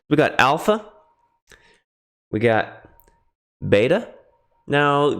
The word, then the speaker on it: beta: We got beta. Now, you might hear uh it pronounced sometimes like a V. Veta.